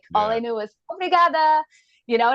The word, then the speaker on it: obrigada: knew was obrigada, and I was even saying it wrong because I was saying the guy's version. I was like obrigado and I'm like whatever.